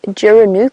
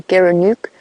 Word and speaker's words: gerenuk: at photos of an antelope called a gerenuk or a Guk depending on where you are and how you pronounce it it's an antelope that